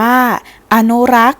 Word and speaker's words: อนุรักษ์: ประกอบ สถาปัตยกรรม ตุ๊กตา เป็น ต้น อนุรักษ์ อ่าน ว่า อนุรักษ์ หมาย ถึง การ รักษา ให้ คง เดิม ธรรมชาติ